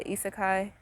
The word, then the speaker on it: isekai: Yeah, isekai.